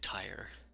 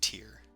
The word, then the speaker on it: Tyr: It's a group of 3 gods: Ilmater, Torm, and Tyre. Or Tyr. It's Tyr.